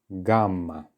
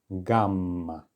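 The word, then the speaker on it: гамма: in music gamma and do notice that letters in Russian can also be doubled it's many consonants that you see this happen to and the principle is exactly the same you just lengthen the sound a little bit gamma all right okay no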